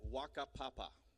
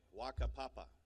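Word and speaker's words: whakapapa: book and the name of the word is Waka Papa all right and it's spelled wh Ka a p a PA a Waka Papa it's a fun word to say uh but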